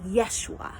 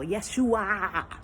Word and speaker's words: Yeshua: And when you pronounce it in Hebrew, it sounds just like Yeshua. Almost the exact same as Yeshua. I think there's like another syllable. Yeshua.